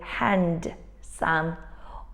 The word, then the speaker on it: handsome: one is silent and in this sentence we've got a silent D we don't say really hand some or sand which we